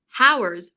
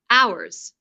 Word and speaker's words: hours: For example, here he says how with an h sound at the beginning, whereas the correct pronunciation is to start with a vowel sound. hours.